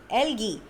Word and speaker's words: algae: ALGAE, algae. The spelling is written as A and E, but it is pronounced as algae.